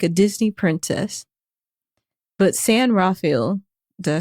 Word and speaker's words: San Rafael: But San Rafael, did I say it right that time? Rafael. But San Rafael, which Meghan says that's how people in California pronounce it.